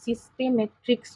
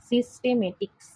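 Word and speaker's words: systematics: উচ্চারণটা কিন্তু সিস্টেমেট্রিক্স নয়, সিস্টেমেটিক্স। অনেক সময় সিস্টেমেট্রিক্স হয়ে যায়, লিখতে গেলে শুনতে গেলে আমাদের ভুল হতেই পারে।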